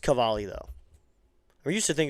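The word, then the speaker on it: Cavalli: I know a lot of people do pronounce his name wrong a lot. His name is Cade Cavali if you're wondering, not Cavali as some people say it.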